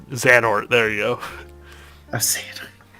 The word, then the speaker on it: Xehanort: I'm not even gonna try to pronounce that from fucking Kingdom Hearts 3. That's not even worth it. Oh no. Xehanort. Xanort.